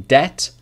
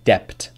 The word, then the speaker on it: debt: after be in subtle but the B sound is not pronounced in any of these words listen again debt doubt subtle debt doubt subtle no B sound whatsoever a lot of my students say depth doubt subtly as I understand why because it's in the writing but the spelling the pronunciation is just without the buh sound i Hardeep hope you